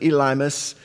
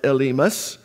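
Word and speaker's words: Elymas: was also called elus now in English we pronounce it elmus but in Greek it's not it's elus the sorcerer now somehow he had become an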